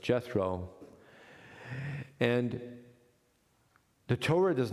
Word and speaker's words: Jethro: And we know of what we would call a close relationship between Moses and his father-in-law, Yitro, in English pronounced Jethro.